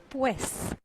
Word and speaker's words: pues: Well, po actually comes from pues. I don't know how, but they pronounce it like po. I mean, the word pues was explained to us in Spanish class, but they never said it was pronounced like po in the south. They can also say pue. Like they almost never pronounce the S. It's either pue or po.